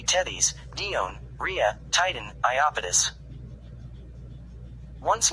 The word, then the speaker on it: Tethys: The name Tethys has 2 customary pronunciations, with either a long or a short e. This might be a US-UK difference.